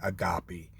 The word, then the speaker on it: agape: But in the human realm, so it's called agape love. I've heard it pronounced other ways, but I'm going to say agape.